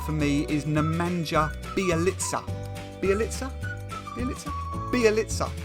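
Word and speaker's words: Bjelica: so the first player we are going to look at at number 10 for me is nemanja bialitza be elixir be elixir pronunciation was right so we've already got a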